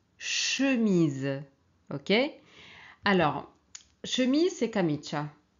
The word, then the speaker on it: chemise: Donc ici, mais c'est le son ch, hein, pas tch. On prononce chemise, ok?